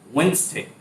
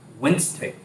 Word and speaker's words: Wednesday: Wednesday. Wednesday. The second word is pronunciation.